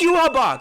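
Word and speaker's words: Yhwach: Yuhabak. It's Yuhabak. That's what it is. Yuhabak.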